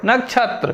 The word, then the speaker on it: नक्षत्र: नक्षत्र। क्षोभ नहीं होगा, क्षोभ होगा। इसका उच्चारण जब हम शुद्ध करें क्षोभ, इस तरीके से।